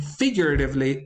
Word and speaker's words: figuratively: the third syllable and figuratively is accented on the first syllable the same is true